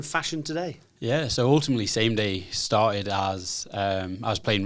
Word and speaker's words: SamDai: And it's spelled SamDai, but pronounced SameDay.